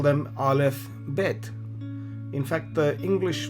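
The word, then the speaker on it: אָלֶף: letter is obviously as I said alf you pronounce it alf this is how it looks and the next letter is Bait.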